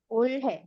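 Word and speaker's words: 올해: bilangnya Gon sama ulhe ulhe bacanya r-nya ada agak-agak di tengah antara l sama r gitu ya Nah selanjutnya kalau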